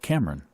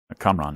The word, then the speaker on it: Kamran: Whose name, interestingly enough, could be pronounced, if you mispronounced it, Cameron, which is how he's pronouncing her name. Kamran is his name, I believe.